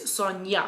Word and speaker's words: Sonja: as my sister she's sonja but she's with the j so it's sonja so a little bit